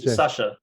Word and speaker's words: Sacha: to say that um it's the same as you would pronounce sasha baron cohen because uh if i